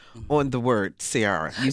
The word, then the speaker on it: Ciara: And so they said, it's Ciara, darling. It's not Ciara.